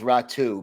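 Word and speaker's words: Räty: this this top prospect you might have to help me pronounce his name is aturati is that right it's pronounced ratu but yeah okay so he's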